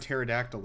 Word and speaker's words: pterodactyl: The P in the word pterodactyl is silent.